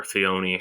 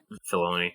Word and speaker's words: Filoni: I was you mentioned Will, Dave Filoni or Fioni, however you pronounce him. Filoni.